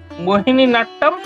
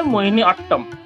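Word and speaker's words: মোহিনীআট্টম: মোহিনী নাট্যম আমরা বলে থাকি কথায়, কিন্তু আসল উচ্চারণ হবে মোহিনী অট্টম।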